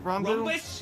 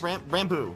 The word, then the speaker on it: Ranboo: It's Ranboo? Rumbus? Ranboo.